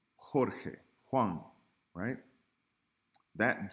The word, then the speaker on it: jota: would write a 1 the letter J highlight is pronounced like the letter H in English so when you see a J it's gonna sound like the word hat but even stronger como Julio Jota hey